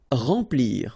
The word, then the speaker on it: remplir: Remplir. Okay, E-M nasal, en, remplir.